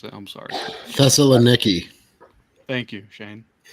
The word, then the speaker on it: Thessaloniki: I can't pronounce it. I'm sorry. Thessaloniki.